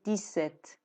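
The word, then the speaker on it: dix-sept: اینجا ما دیدیم که دی خونده نشد گفتیم دیست دیست یعنی این دیس ست نگفتیم دیست گفتیم میتونیم باز اینم ببینیم تلفظش تلفظش تلفظش دیست دیست دیست دیست خب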